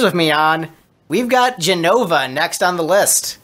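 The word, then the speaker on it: Jenova: We've got Genova next on the list. Is it pronounced Genova or is it J-E-N-O-V-A? I mean, voice acting, so actually, no, it's Genova. It's Genova. I saw Advent Children. It's Genova.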